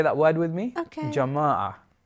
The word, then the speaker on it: jama'ah: Jama'ah. Jatama. No, jama'ah. Jama'ah. Yeah. Oh, is that good pronunciation? Yeah, well done, Penny.